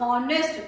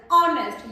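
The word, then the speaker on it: honest: That is नॉट हॉनेस्ट, that is ऑनेस्ट। यहाँ पे H silent रहता है, ओ की साउंड ऑनेस्ट।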